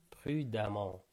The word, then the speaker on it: prudemment: prudemment de la voiture prudemment donc on écrit prudement mais on le prononce prudemment ajoute mon coureur cycliste